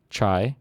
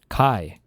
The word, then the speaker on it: Chi: college, he aimed to start a Theta Delta Chai.